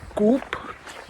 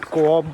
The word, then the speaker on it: Co-op: etc., from the local Coop. You guys might call it Co-op, but the real pronunciation is Coop.